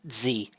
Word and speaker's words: Driz: It's pronounced Z. Silent D.